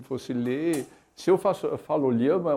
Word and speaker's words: LLAMA: Llama é a pronúncia espanhola da coisa, mas é um projeto que é junto com a Argentina, e os argentinos dizem Jama.